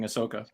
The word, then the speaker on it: Ahsoka: phase her at all and then I do it on purpose just because it makes Mark go you know it's not pronounced that way foreign what are you talking about I say Ashoka all the time now just for her